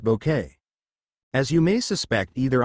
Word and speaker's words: Bucket: me of an evil Mrs bucket pronounced bouquet as you may suspect